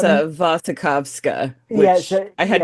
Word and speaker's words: Wasikowska: yeah, Uh, yeah, you it's know, a Vasikowska, yeah.